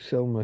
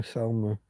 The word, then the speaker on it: Salma: Selma. Salma. However it's spelled.